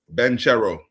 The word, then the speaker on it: Banchero: Banchero. Banchero. Okay, Banchero. Sound like another churro.